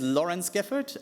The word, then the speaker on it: Laurens Geffert: Um, my name is Lawrence Gford. um a Dutch spelling German pronunciation but it's okay.